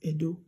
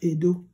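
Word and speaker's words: Ẹdo: So you'll be able to pronounce it as Edo. If you don't have diacritic and you write Edo like this, and you make attempt to pronounce it, you're going to pronounce it as Edo, which is wrong.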